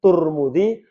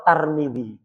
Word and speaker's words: Tirmidzi: Bacanya bisa Tirmidzi, Turmudzi atau Tarmidzi. Lek orang Jawa biasanya tur T tur Turmudzi. Lek orang Malaysia Tarmidzi. Tarmizi Tahir ya. Lek orang Malaysia biasanya ngambil yang tarmidzi.